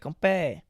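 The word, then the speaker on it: 건배: And they're like, Gompe. Gompe. Is it G? But it sounds like a K when they say it.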